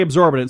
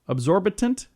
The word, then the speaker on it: absorbent: Absorbitant? Is that the right way to say that? Absorbent. Absorbent? Oh, yeah, that's it. Absorbent. That does sound a lot better.